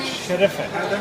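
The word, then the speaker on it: şerefe: How do you say cheers in Turkish? Normally, when the people drink raki, Raki. alcohol, Yeah. they make sherefe. Sherife.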